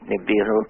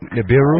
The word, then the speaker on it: Nibiru: however you pronounce it i pronounce it nibiru nibiru another way of asking the sumerians how they pronounce this but but i would say nibiru nibiru this goes around every